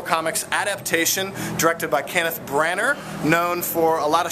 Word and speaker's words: Branagh: We just saw the brand new Marvel Comics adaptation directed by Kenneth Branagh, known for a lot of Shakespeare movies, and yes, that's how you fucking pronounce it.